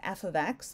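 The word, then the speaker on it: f(x): so when you see this in English it's pronounced F ofx the thing on the left side whatever is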